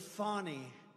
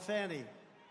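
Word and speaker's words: Fani: been destroyed because of fonny f a n i fny you have to pronounce it fonnie it's called Fanny you have to pronounce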